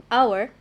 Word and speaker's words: hour: and the second example hour the word hour starts with a consonant letter h however h is not pronounced right and it makes